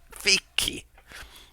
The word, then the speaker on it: fichi: and hear her saying, "No, no, it's fichi, fiki."